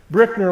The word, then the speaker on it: Brueckner: It's pronounced Brickner, like bricks.